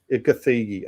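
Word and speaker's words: Gathegi: Is that is that how you pronounce his name? Edie Gethigi. Gethigi. Okay. See, there you go.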